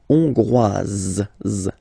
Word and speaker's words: Hongroise: Hongrois, Grois, Hongroise. Okay, so here, final S not pronounced for the masculine form, and then you pronounce it here for the feminine form.